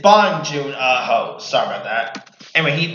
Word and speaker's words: Bong Joon Ho: Alright, it is of course director Jang Bong Ho. Hope I'm not mispronouncing his name wrong. But it's June it's Bong Joon Ho.